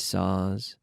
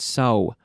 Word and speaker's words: saw: Hand saws, different saws, a saw. Saw, but be careful with the pronunciation, not so, but saw. I'm leaving my mouth open, it's a very long sound, saw.